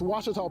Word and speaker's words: Ouachita: It's Washita, people. It's Washita. Washita.